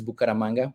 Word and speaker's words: Bucaramanga: So yes, for the correct, in case you were wondering, Gonzalo Peña-Castellanos, and the city that Reshama was pronouncing is Bucaramanga, which is my hometown, and I'm the organizer of the meetup from that city, even though I'm not currently living there.